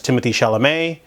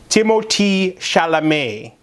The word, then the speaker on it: Timothée Chalamet: the second one has Timothy Chalamet, or no, you have to say it correctly, Timothée Chalamet. And then the third one has Stephen Park in it, the eccentric chef.